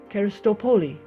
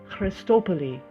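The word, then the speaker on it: ευχαριστώ πολύ: I refused, with thanks, and said, "Karistopoli." The woman and her daughter's friend laughed cheerfully, and while moving her lips more than normal to convey the correct pronunciation, she said, "Christopoli, Christopoli." "Christopoli," I repeated, and like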